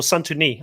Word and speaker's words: Santoni: She really, or Santoni, I believe is the right way to pronounce it.